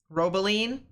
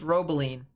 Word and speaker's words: Robeline: debris signature quite yet robeline that's what's pronounced robeline appreciate it robeline uh yeah